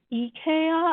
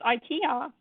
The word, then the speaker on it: IKEA: Ikea a lot yeah it's actually pronounced EA I think in Sweden correct me if I'm wrong but in America we call Ikea because we're just awful that's Ikea I think the weirdest